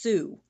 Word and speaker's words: Tsu: It's pronounced Sue, but it's spelled TSU.